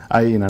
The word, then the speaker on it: iENA: Ε τώρα βάλαμε στον τίτλο από τη Θεσσαλονίκη στην και ρωτούσα πώς προφέρεται. Αη ήνα Αίνα. Ναι. Έτσι την προφέρουν στη Γερμανία.